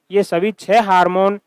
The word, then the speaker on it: हॉर्मोन: तो ये हार्मोन नहीं होता। यह हॉर्मोन ही होता है।